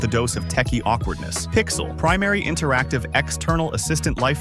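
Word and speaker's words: Pixal: Zayn and Pixel, pronounced Pixel, are the most unconventional pair on our list.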